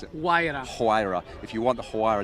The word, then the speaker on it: Huayra: I mean, just a quick word on that Roadster, because if you want the, tell me how to pronounce it. Huayra.